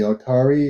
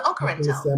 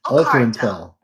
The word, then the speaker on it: Okarantel: We are called the Okarantel, pronounced Okarantel. Not Otari, okay.